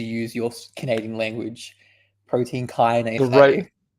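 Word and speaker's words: kinase: No, it's Kynise. Kynes pronunciation, bro. In English. Let's get this. I was pronouncing it right, bro. Google Kynes, bro. It's not Kenise, bro.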